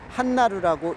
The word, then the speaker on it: 한나루: 그래서 대진이라고 쓰고 한나루라고 읽습니다.